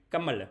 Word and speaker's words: Kamala: Kamala. It's actually pronounced Kamala.